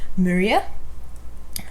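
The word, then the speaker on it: Muria: messed it up last time but the proper pronunciation of it is maria but you can call it maria moriah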